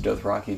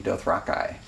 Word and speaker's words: Dothraki: reflect that though I apparently got it wrong he pronounces Dothraki Dothraki he records every line